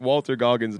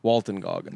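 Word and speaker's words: Walton Goggins: And I've been saying that Walter Gogggins needs his roses. Well, you keep saying his name wrong. It's Walton. Walton Gogggins.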